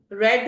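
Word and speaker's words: read: अब रीड की third form रेड होती है, जिसकी प्रोनाउंसिएशन रेड होती है बट स्पेलिंग सेम रहते हैं।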